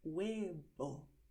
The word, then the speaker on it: huevo: Escribimos con la V, pero pronunciamos con la B. Y eso es así generalmente en español. Hay algunas regiones donde la gente dice huevo. Es posible, pero no es general, ¿vale?